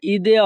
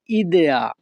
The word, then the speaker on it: idea: Italian ভাষায় ইদেয়া অর্থ ধারণা, ইংরেজিতে আমরা আইডিয়া অর্থ ধারণা বুঝি। এই আইডিয়াকে ইতালিয়ান ভাষায় উচ্চারণ করা হয় ইদেয়া।